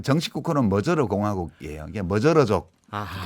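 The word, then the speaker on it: Magyar: 이게 머저르족. 아하. 보통 우리 마자르라고 쓰는데 네. 실제로는 머저르로 발음이 나죠.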